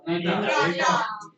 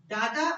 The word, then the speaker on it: data: Next we have data. Are actually dual pronunciation. अगर British और American accent की बात करें तो dual pronunciation होती है data and data.